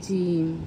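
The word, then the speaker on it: ج: এটা হচ্ছে জিম। এটা একটু চেপে বলতে হবে। আর এটা তিন আলিফ পরিমাণ টেনে বলতে হবে।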